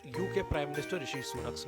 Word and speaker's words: Rishi Sunak: Just today, we've got news that Rashid Sunak is now the Prime Minister. In October 2022, the US President mispronounced UK Prime Minister Rishi Sunak's name.